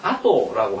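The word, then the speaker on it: あと: 그러면 아토라고 하는 것은 순서를 이야기해서 다음, 뒤 이런 말입니다. 순서. 이걸 한번 더 써놔야 되겠네요. 이걸요 실제 많이 착각하는 분이 많은데 아토라고 읽으면 순서를 이야기하는 것이 됩니다.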